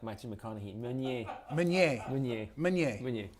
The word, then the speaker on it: Meunier: Meunier. Meunier. It's all right. Yeah, I think I've been pronouncing it kind of right.